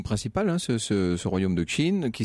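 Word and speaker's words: Qin: 5ème siècle à 221 avant notre ère la chine donc compter à cette époque-là cinq royaumes principaux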